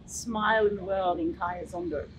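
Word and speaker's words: Khaya Zondo: Yes, Kaya Zondo. Yeah, that's pretty simple. I don't think there's too much really to his pronunciation, but yeah, Kaya Zondo is pretty much how you said it.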